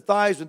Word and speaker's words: Theismann: think by just simply changing the pronunciation of your last name from thieves meant the thighs and to rhyme with Heisman we can guarantee you